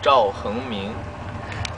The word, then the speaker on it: Zhao Hengming: I just wanted to share with you guys my Chinese name, which is Zhao Hengming. Zhao Hengming. Yeah. Zhao Hengming. Good pronunciation.